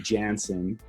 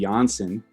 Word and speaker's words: Janzen: Oh yeah, the correct pronunciation would be Jansen. Yeah. I mean, if you want to go back to the Mennonite root, it would be Janssen. And that would be, so that's the German version of it.